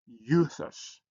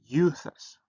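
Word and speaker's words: εὐθύς: So you pronounce it as you in feud. So, like in this word here, you pronounce it as euthus, euthus, euthus.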